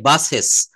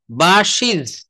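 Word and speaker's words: buses: আমাদের দেশে ছেলে মেয়েদেরকে শিখায় বাসেস, বাস, বাসেস। হুম, কিন্তু কিন্তু এটা উচ্চারণ হবে ইয়েস, এই যে দেখেন বলছে বাসিজ, বাসিজ, হ্যাঁ দেখছেন, বাসিজ, অর্থাৎ বাসগুলো।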